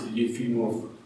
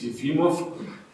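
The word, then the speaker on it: Efimov: body physics the soal yimo States the correct pronunciation is yimo not eim States it's yimo and now you have seen actually this picture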